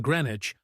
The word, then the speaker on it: Greenwich: stem from this era silent letters like the W in Greenwich are remnants of anglo-saxon pronunciation the Normans brought French